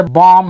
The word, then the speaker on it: bomb: लेकिन अगर किसी वर्ड के अंत में MB एक साथ हो, उसके बाद शब्द खत्म हो जा रहा है, कोई दूसरा लेटर नहीं है, तो वहां पे बी साइलेंस हो जाएगा।